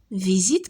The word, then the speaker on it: visite: Donc S مين كتجينا entre deux voyelles se prononce Z.